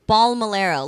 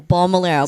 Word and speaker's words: Balmilero: Balmilero, like how it's spelled. See? I think people just get intimidated by the 9 letters, but it's really Bal, B-A-L, Bal, And I get that. L-E-R-O, Lero, Balmilero.